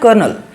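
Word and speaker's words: colonel: okay यहां पास देखो यहां पास कोनल ऐसा लग रहा है कि यहां पास आर है ही नहीं लेकिन इसको प्रोनाउंस क्या करना है कर्नल ओके कर्नल तो आप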